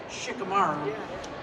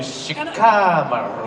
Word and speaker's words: Shikamaru: saying it the way we settled on it Shikamaru because I they also like shikaru you know there's there's that thing I called you shikaru and a lot of it they have to